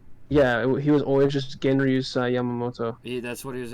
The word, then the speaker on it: Genryusai: Genri Yusai Shigekuni Yamamoto, the head captain of Squad 1, formerly, he is now, unalive.